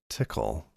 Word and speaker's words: Tcl: don't know um for some reason I've always pronounced it tickle uh um definition inur this is junk okay